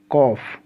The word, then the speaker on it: calf: अब जैसे लिखते हैं आप HALF, क्या पढ़ते हैं, हाल्फ नहीं हाफ, CALF, कॉल्फ नहीं कॉफ।